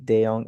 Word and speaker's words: Deong: I believe Deong is the correct way to pronounce.